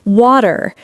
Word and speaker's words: water: It's the sound in the middle of words like water. Better city. Exactly. Instead of saying water, Americans say water. That T sounds like a soft D.